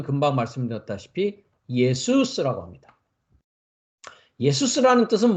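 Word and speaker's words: Ἰησοῦς: 오신 분이 누구냐 어 예수 스라는 이름을 가지고 온 분이었다는 것이죠 이분이 실제이 그래서 예수라는 이름은 히브리어 301번을 가면 예호슈아 라는이 발음입니다 슈아는 히브리 발음이 예수스 이것은 헬라어 발음입니다 그래서 우리가 이제 여호수아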